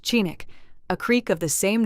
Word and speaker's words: Chinook: It is 10 weeks yesterday since we arrived at Golovin, or Chinook, as is the Eskimo name for the settlement, and pronounced Chinook, a creek of the same name flowing into the bay a mile east of this camp.